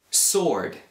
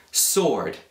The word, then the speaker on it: sword: knc Island Island Che vuol dire Isola Island Sword Sword Che vuol dire una spada kel kernel proprio